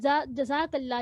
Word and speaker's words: جزاک اللہ: جزاک اللہ کہتے ہیں، تو یہ صحیح تلفظ ہے نا، جزاک اللہ ہی ہے۔ اور اگر ہم